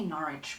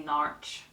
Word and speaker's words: Norwich: if you read this book How would you pronounce the name of this place why Mom no Windom how about I say Norwich but I've heard people say narch anyway that's it um there are so many